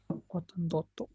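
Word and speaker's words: ottantotto: Otantoto. Otantonto. Oke. Kita pecah dulu ya. Otanta plus oto. Yaitu menjadi otantoto. Seperti itu ya. Otanta plus oto itu menjadi otantoto.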